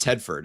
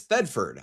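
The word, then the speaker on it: Thedford: I thought it was actually pronounced Tedford and the H was silent. Pardon me on that. So, this is Theford.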